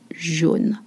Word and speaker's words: jaune: The different sound, AU makes the sound O, jaune.